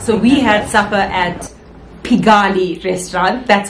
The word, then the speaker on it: Pigalle: if we're not so we had supper at pigali restaurant that's how it's pronounced yeah finally we got the pronunciation right